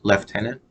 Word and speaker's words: lieutenant: way there's no F there's no F in the beginning of that word left left Tenon so that's that's what